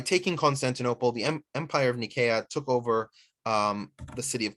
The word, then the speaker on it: Nicaea: The city of Nikea is usually pronounced in the West as Nicaea, but Nikea is the Greek name.